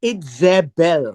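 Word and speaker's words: איזבל: For when Itze, Itzebel, Itzebel, or Itzebel would be the way it is pronounced.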